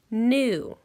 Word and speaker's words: knew: say it with me new it sounds the exact same as this word new new new new new now this new has a silent K at the beginning which this were the